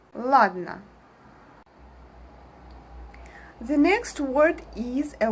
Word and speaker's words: ладно: We don't pronounce every sound separately like ладно. We put our tongue up and we make a pause, we make the sound a bit longer and we move to n sound.